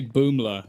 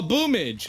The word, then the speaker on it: Boomler: I was like, so how do you say Boomler? And he was like, who is Boomler? And I went, BOOML4, and he went, oh, Boomage.